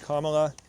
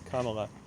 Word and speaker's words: Kamala: guessing these people hear the mispronunciation of Kamala as Kamala I am guessing that they hear Kamala the incorrect pronunciation of the vice president and candidate for president and they hear that at a higher frequency than they hear the correct pronunciation which is kala a person who would